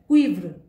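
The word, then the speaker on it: cuivre: सी के बाद ओ आ रहा है, सी के बाद ओ आ रहा है, इसलिए इसका उच्चारण हो गया कॉम। एक और एग्जाम्पल देखते हैं। क्वीव्र, क्वीव्र सी के बाद यू आ रहा है, इसका उच्चारण इसलिए ये होगा क्वीव्र।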